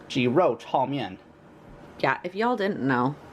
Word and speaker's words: 鸡肉炒面: And in Mandarin, it's actually pronounced 鸡肉炒面.